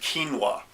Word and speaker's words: quinoa: And also an ingredient that originates from South America called quinoa. Now quinoa is spelled Q-U-I-N-O-A.